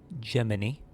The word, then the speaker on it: Gemini: fun things that is gemin spelled like Gemini but pronounced in a way that's like Jiminy because this is Pinocchio based which is really weird